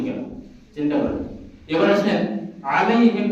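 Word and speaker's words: عليهم: চিন্তা করেন এবার আসেন আলাইহিম না বলে আলাইহিম অনেকে বলে চলে যায় অর্থাৎ আইনের উচ্চারণ না করে হামজার উচ্চারণ করি তখন অর্থ হয়ে যায় তাদের পরিবার তাদের বংশ তাদের এখন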